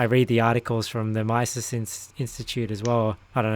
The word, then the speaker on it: Mises: and I I read the articles from the mice 'since Institute as well I don't have you pronounced at Mises but you know he says yeah that stuff